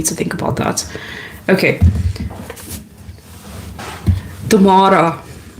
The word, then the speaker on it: Tamara: Okay, tomorrow. That's how some people say my name in South Africa.